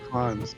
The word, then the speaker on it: Cannes: Informs me the correct pronunciation is Cans, not Cairns, so Cons.